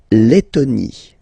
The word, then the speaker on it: Lettonie: La Lettonie. So remember when you've got this and then a double letter like that, T, okay, then you will have to open your and it will become Lettonie.